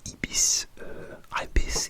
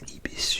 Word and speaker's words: Ibis: Et finalement, une bus est venu me chercher pour m'emmener dans un hôtel Ibis, Ibis, j'ai pas sûr la prononciation, je dis que Ibis au Royaume-Uni.